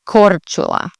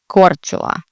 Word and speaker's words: Korčula: And again, you're going to put the emphasis on the beginning of the word, Korčula, Korčula. So again, roll your R, the CH, and then ula, Korčula.